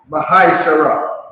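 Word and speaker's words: מעשר: Means 10 in Hebrew and is pronounced Mahai-Shara.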